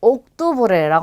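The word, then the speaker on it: octubre: 그러면 옥투브레라고 합니다. 옥투브레.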